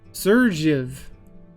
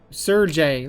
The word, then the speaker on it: Sergey: Dmitri, Maria, Zofia, and then we have Sergev. Okay, Sergey. Let's call you Sergey because the J is probably a it's not actually supposed to be pronounced.